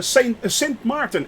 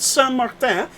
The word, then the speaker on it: Saint Martin: in the bahamas uh that is uh saint martin actually not san martin as a lot of people say that's the french